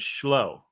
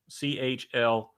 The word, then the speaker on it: Chloe: was getting it, and I said Schloe. The girl's name was Schloe, CHLOE. And she could not have been more dissatisfied with my pronunciation of her name, which was, of course, actually Chloe.